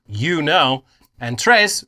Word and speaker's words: tres: pronounced you know and Tres rhymes with dress none of those things are true uh the AI was